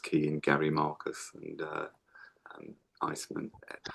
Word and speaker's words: Eisman: If you just key in Gary Marcus and Iceman. Iceman is spelled EISMAN.